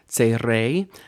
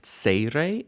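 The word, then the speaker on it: צירי: I've been pronouncing this tserei in the lessons, I realize. Sometimes you'll hear my Ashkenazi sub-ethnicity sort of break through my pronunciation, but technically speaking, this should be tserei, and it makes an A sound.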